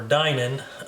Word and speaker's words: Dinan: The gun really nicely customized by Alton Dinan, or Dinan, depending on how you pronounce that, D-I-N-A-N.